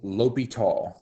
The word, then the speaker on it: L'Hospital: a certain point this is what is called ly tall's rule yes I I'm aware it's spelled l apostrophe hospitals rule um it's pronounced lital I'm assuming it's a French uh actually I